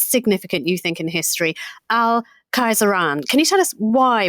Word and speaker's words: Khayzuran: We are talking, Hugh, about somebody now who is as significant, you think, in history, al-Khayzuran.